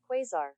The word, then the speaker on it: Quasar: Quasar. Oh, you're saying it right. Quasar. It's quasar.